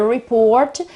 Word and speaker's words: report: word is report report this word is always the same it doesn't matter whether it is a noun so the report or a verb so to report but the accent is always on on the second syllable so it's always on